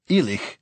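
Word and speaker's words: Ìleach: Regardless of how Islay itself is pronounced, Ilich, which means somebody from Islay, is pronounced Ilich.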